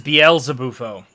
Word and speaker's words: Beelzebufo: if i'm not mistaken beelze might be a reference to beelzebub which therefore means that it's proper pronunciation is bielsa bufo which i find really